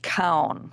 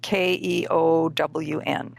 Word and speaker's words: Keown: I believe the last name is pronounced Keown, Keown.